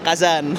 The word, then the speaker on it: Kazan: Kazan itu kalau Bapak lihat itu hurufnya K A 3 A H B. Kelihatan enggak di situ? K A 3 A H B tulisannya gitu. Itu bacanya kazan. Kazan ya.